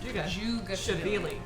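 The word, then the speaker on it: Dzhugashvili: Just think of the DZH as a J sound. Jugashvili.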